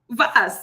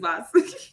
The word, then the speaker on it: VAS: VAS is called the VA Simulation Program. The P is silent. That's why I'm calling it VAS.